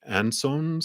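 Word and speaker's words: Ansuz: It's a rune, which is actually, I think it's pronounced like ansons or it almost sounds like answers, which is about messages.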